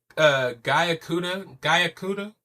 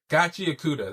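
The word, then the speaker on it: Gachiakuta: Gayakuda? I forgot it. Gachiakuda, that's how you say it.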